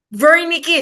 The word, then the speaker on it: Wernicke: The Wernicke, silent, baka spell nyo to na V. Diba? In German, W is pronounced as V.